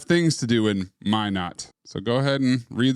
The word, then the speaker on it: Minot: Minot, not Minot.